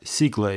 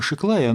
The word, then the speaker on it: Sziklai: составного транзистора я схема секла и на русском обычно произносит схема шаг лая но я сторонник оригинального произношению имен собственных это венгерская фамилия поэтому схема секвойи ее